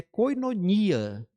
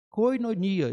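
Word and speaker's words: κοινωνία: é até conhecida nossa a pronúncia que é koinonia koinonia Então essa palavra é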